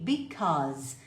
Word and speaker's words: because: ligue para essas pessoas pronuncie because como se fosse um ó ó e o z z because basicamente usamos o